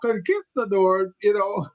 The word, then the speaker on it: conquistador: I'm going, conquista. Yes. The teacher said, no, Gilbert, it's conquistador.